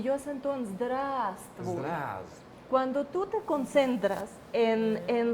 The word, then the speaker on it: здравствуй: Entonces, lo más fácil sería concentrarse en la vocal y decir здравствуй. ¿Ya ven?